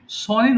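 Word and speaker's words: son: I have সান হ্যা এখানে সনের উচ্চারণটা সান হবে সান আচ্ছা এবার যদি বলি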